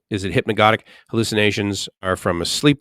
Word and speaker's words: hypnagogic: In other words, you pronounce neither of the G's is soft. Is it hypnagogic?